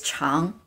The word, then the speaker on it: 常: And this character's pronunciation is actually chang, chang. So they have the same finals.